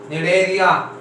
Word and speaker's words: Cnidaria: इसी इसमें साइलेंट है Cnidaria. निडेरिया, ठीक है।